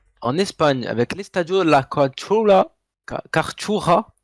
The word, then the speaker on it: Cartuja: On va à Séville, en Espagne, avec l'Estadio La Cartuja. Cartuja. Cartoura, C'est comme ouais.